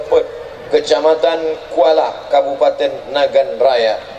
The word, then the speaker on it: Pet: Remaja Masjid Baitur Rahim, Gampong Simpang Pet, bacanya Pet, Kecamatan Kuala, Kabupaten Nagan Raya.